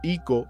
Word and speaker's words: Eko: un solo ikin consagrado llamado Eko, pronunciado Iko en Yoruba, de donde deriva el término Ikofa.